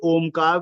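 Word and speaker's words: ओम्: यही ओम बन जाएगा उसके उच्चारण का स्वरूप समझाते हुए ओ शब्द के आगे तीन का अंक लिखा जाता है तद उपरांत आधा मा लिखते हैं देखिए तीन का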